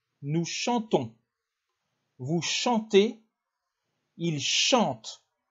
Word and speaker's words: chantent: chantons vous chanter ils chantent le ent ne se prononcent pas non plus il chante elle chante